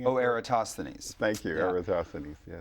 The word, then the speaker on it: Eratosthenes: I think it's pronounced Eratosthenes. Isn't I saying it? Oh, Eratosthenes.